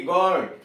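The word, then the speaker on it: guard: अब you silent देखिए, जी यू ए आर डी, गॉड, चौकीदार। इसमें यू साइलेंट है।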